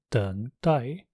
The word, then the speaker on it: 等待: It also means wait, as in 等待, in which case it is pronounced with the fourth tone.